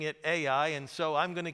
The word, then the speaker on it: Ai: I know in the Hebrew you might pronounce that I, but I grew up pronouncing it Ai, and so I'm going to keep on doing that if you don't mind.